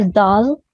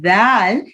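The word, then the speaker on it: دال: Your tongue will come out and touches the edges of your front two teeth, and then you will pronounce this letter. So you have to remember in the case of dal that it is a soft letter. There is no whistling and buzzing sound in this letter, which is resembled to dal.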